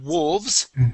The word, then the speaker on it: wolves: uh pronounce this correctly like wolves that's good that L is silent and the E is silent okay um but loes okay